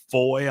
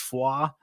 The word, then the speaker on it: Foy: Um going to the town of Fua, I know they pronounce it Foy on the show, but it's Fua.